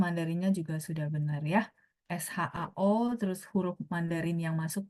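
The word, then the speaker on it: 少: Sedikit adalah Shao ya, nada 3 ya teman-teman ya. Shao. Tuh, ketikan huruf Mandarinnya juga sudah benar ya. SHAO terus huruf Mandarin yang masuk juga udah benar.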